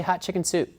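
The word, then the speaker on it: Hatshepsut: so in Egypt ass how do you pronounce his name and they said well just say hot chicken soup and so that's an easy way to remember that so hob shut suits as she some people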